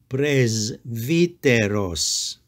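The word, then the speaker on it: πρεσβύτερος: word is pronounced presidents note that the first Sigma makes a z sound and the last Sigma s sound praise viteros this word means Elder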